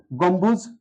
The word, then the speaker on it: গম্বুজ: অথবা ইকার যদি থাকে তাহলে প্রথমের অটা ও হয়ে যায় গোম থেমে গেলাম হস্বত ব্যবহার করলাম গোম বুঝ বুঝ এখানে থেমে গেলাম গম্বুজ শব্দটায় দুটো অক্ষর আছে দুটো বদ্ধক্ষর আছে গম্বুজ এবার আমরা নিতে পারি